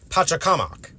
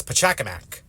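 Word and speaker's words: Pachacamac: both pronunciations are valid in the native Keta language the pronunciation is or at least is much closer to pakak while in English it gets translated as pakamac I've just always preferred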